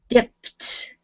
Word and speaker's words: dipped: Okay, so you said it almost like you're making 2 syllables out of it. Make sure that you keep it 1 syllable. Dipped, dipped, dipped.